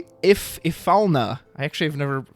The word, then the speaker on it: Ifalna: Speaking of which, if you would like breakable backups, may I interest you in Ilfana? Ifalna. I actually have never pronounced it out loud before.